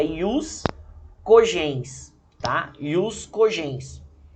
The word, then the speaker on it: ius cogens: Nós vamos tratar do chamado jus cogens, tá? Ou a melhor pronúncia, né, vinda do latim seria ius cogens, tá?